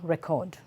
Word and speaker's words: record: If it's a verb, the stress goes back to C-O-D, and that is how you create the difference in the pronunciation of these words.